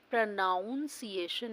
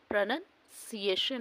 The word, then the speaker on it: pronunciation: सबसे पहले तो देखिए आप प्रोनाउंस एशन नहीं होता प्रोनंसिएशन होता है इसके कुछ रूल्स देखेंगे